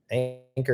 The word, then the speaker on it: Anker: Anchor is spelled Anker, kind of like Acorn, but different.